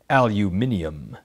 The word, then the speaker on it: aluminium: cans and other containers north americans pronounce it aluminum elsewhere they say aluminium aluminum is separated from